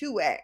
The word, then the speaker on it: 2WAI: Now, former Disney star Callum Worthy is stirring up some controversy with his new app, 2WAI, pronounced 2A, okay?